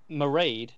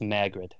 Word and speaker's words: Mairghread: Mairghread is the Gaelic pronunciation, the original the pronunciation of that name. Mairghread. However, right. She has tweeted in the past that she goes by the Americanized saying of it, which is just Mairghread. Mairghread. Yes. Yeah, rhymes with air. So Mairghread. Yes.